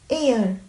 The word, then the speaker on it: heir: Before a word beginning with a silent H, resulting in a vowel sound at the beginning. Examples: an hour, an honest, an honest man, honest, an heir, an honorable man, honorable.